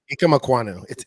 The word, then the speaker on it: Ikem Ekwonu: How are we pronouncing it? Ikem Ekwonu? Ikem Ekwonu.